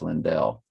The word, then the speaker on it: Lindell: I know the pronunciation now because her sister said it to me on audio. It's Lindell.